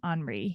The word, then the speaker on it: Henri: I'm going to call Henry Nouwen. I believe that he would pronounce his name Henri. He's Dutch.